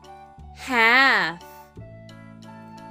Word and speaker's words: half: the baby Kettle is called a cough half h a l f let's spell the word